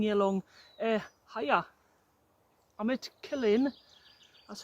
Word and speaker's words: Killin: I'm at Killin, that's how you pronounce it, after my chat with one of the locals the other night.